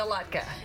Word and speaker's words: latke: So this is how you make the latke.